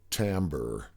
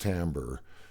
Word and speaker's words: timbre: This is called timbre. It's spelled Timbre, but it's pronounced timbre, and it's the unique